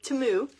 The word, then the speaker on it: Temu: from teu that I want to show you timu okay I finally learned how to pronounce it so I'm going to unwrap the